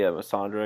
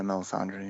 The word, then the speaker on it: Melisandre: add up and it was good to see mandre again is that how you pronounce her name oh yeah Melisandre Melisandre yeah um but I think I think